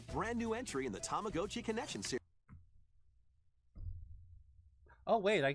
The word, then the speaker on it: Tamagotchi: Again, I grew up calling it a Tamagotchi, but uh yeah, I I guess now now that he says it, it is Tamagotchi because that would be the Japanese pronunciation.